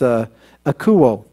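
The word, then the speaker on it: ἀκούω: let me give you the Greek word it's a cool and I did pronounce that correctly I double-checked sometimes I hear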